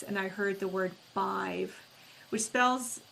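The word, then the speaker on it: Badb: I heard the word bive which spells B- A DB but it's pronounced B I V.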